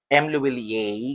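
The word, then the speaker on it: M Lhuillier: Oo and then kay m ler m ler ganon daw ang pronunciation ah 18 karats 4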